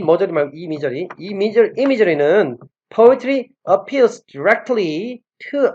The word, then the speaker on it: imagery: 이 머저리만, 이미저리. 아니, 세상에 옛날에 이거를 읽는데, 이미저리를 읽어야 되는데, 이머저리라고 읽어요, 이머저리. 이걸 어떻게 이머저리라고 읽어요?